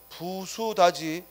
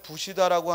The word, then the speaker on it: 부수다: 부수다지 이 부수다를 부시다라고 하면 안 돼.